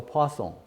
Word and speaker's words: Poisson: the French person right yes I see so person okay and this one you know given time